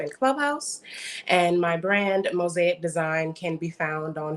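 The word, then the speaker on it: Mosaiq: and spirituality coach and my brand mosaic design spelled with a q so that's m-o-s-a-i-q mosaic design and all of really the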